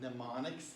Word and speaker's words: mnemonics: to talk about what mnemonics is just to tell you this m is not pronounced it's mnemonics go ahead and say that mnemonics and then you guys